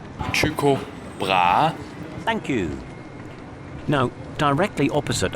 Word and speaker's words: Tycho Brahe: said, and this is how it should be pronounced. Tycho Brahe.